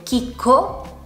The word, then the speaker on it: chicco: In parole come per esempio chicco o chela. Come potete vedere, in queste parole abbiamo la C seguita dalla lettera H, che è muta, non si pronuncia e non ha un suo suono, e a sua volta